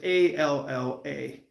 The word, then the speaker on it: Alla: Now, we never could say his name right, but his name was Alla. And it sounds like Allah, like the big guy upstairs, Allah.